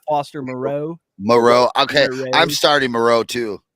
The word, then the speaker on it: Moreau: Moreau. Okay, I'm starting Moreau too. Yep, in we a got him couple in our of Trenches leagues. league. Oh yeah, there's one. So I'm definitely starting Moreau.